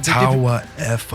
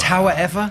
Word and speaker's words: Tauaefa: Tauaefa. Tauaefa? Yeah. How did I say it? Tauaefa.